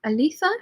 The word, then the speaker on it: Aletha: Aretha says it's pronounced like Aretha, except with an L. Aletha, have I got that right?